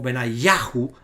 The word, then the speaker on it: Benayahu: Aparecen los nombres como Benayahu, acentuado en la sílaba ya, sí.